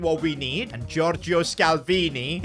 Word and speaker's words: Scalvini: we need and Georgio scalvini his name rhymes with Maldini and he shares his